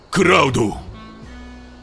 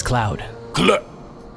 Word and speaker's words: Cloud: Kuraudo. Kuraudo. Where is Kuraudo at? No Kuraudo here today. Barret? Yes, sir. The name's Cloud.